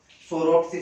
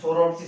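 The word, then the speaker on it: Psoroptes: इसके एग्जाम्पल, इस एग्जाम्पल की बात करें तो सोरोप्स स्पीसीज, सोरोप्स स्पीसीज, पी यहाँ पे साइलेंट है, ध्यान रखना, इसलिए इसको सोरोप्स स्पीसीज के नाम से जाना जाता है।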